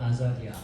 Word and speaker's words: 아자리아: 아사리아라고 번역되어 있지만 발음은 아자리아 이렇게 됩니다.